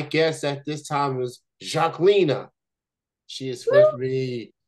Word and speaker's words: Zhaklina: had to make sure that I get the pronunciation part right so here it goes my guest at this time is Jacina she is with me right now how's it